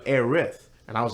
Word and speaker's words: Aerith: quick mentioning her uh Eris or aerith I say aerith I say aerith too like I did say Eris because like when a planning as a kid it says heiress for North America so I was just